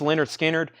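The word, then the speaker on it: Lynyrd Skynyrd: have one kind of Leonard Skinner this is pronounced Leonard Skynyrd 69.99 analog Productions analog Productions 2lp there's wings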